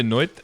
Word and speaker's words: noite: I have to say noite because I have people from actual Portugal and they get mad if I use the Portuguese, the Brazilian Portuguese. Because I think in Brazilian it said boa noite.